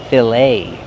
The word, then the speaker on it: fillet: We see the ET making a long A sound, like say and day. Fillet.